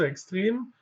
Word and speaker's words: extrem: Es verkürzt aber nicht ganz so extrem. Extrem haben wir natürlich auch das Wort. Dort wird es auch etwas kürzer ausgesprochen. Ja?